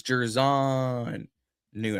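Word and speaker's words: Jer'Zhan Newton: It's Gervon Newton.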